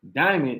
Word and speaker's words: Dymond: Yes, it's spelled diamond, it's spelled diamond, but it's pronounced Diamond.